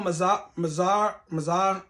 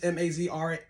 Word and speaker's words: Mazrah: So the new battle map is called Al Mazar. I'm sorry if I butchered that. It's Mazrah. But that's the new map.